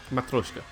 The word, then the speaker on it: Matryoshka: Yeah, you did, but I believe someone in Alpax's chat has given the pronunciation, which is what we're doing. I did read it. Yeah. That was correct. Matryoshka.